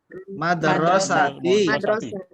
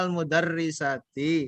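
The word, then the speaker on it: مدرستي: Ini dibacanya bagaimana tadi? Sekolah. Madrasati. Ya, jangan dibaca al-mudarrisati karena tidak cocok. Walaupun itu hurufnya sama.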